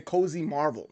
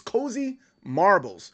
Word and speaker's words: Cozy Marbles: I was going to say Cozy Marvel, but it's Cozy Marbles.